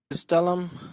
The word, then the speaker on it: Gastelum: But as you will hear here, he does say, Kenny, with that, Spanish pronunciation, Kelvin Gastelum. Gastelum, Kelvin Gastelum.